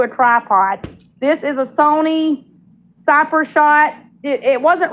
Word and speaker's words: Sony: I said Sonny and my husband said it's not Sonny, honey, it's Sony.